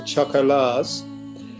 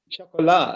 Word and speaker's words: Choco La's: It's our interview with the Chocolars. Have I pronounced that right? No. Go on, how do you say it? It's designed to be said with your best French accent. Oh, So the chocolat, as in, right, okay.